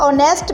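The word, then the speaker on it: honest: सादा अल्फाज में इसका मतलब यह है कि जिस तरह ऑनेस्ट में एच साइलेंट होता है, हम इसका सेकंड लेटर देखेंगे जो ओ है और यह एक वोवेल है।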